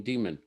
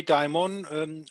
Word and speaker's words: daimon: is assigned a guardian demon. And by the way, we chatted a little bit about beforehand. In Greek, there's one word. You sometimes see it pronounced daimon. In Germany, we say daimon, not demon.